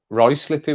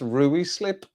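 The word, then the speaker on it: Ruislip: him in the head he was from root rice slippy was from Roy slip but it's built r-u-i-s-i-p honestly that's not right slip that's rui slip rice slip r-u-i-s-l-i-p lateral Lateralus Lateralus not Lateralus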